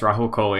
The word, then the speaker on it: Rahul Kohli: ezra bridger uh you're familiar with the actor raul coley right that's how you say his name yes rahul kohli i'm a very big fan of his from